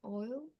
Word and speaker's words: oil: you to pronounce but you have to be make sure that pronounce the l sound at the end oil oil oil can